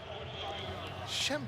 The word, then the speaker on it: Schembechler: Schembechler.